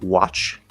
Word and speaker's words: watch: Of course, we have words like watch, and this T is just spelling.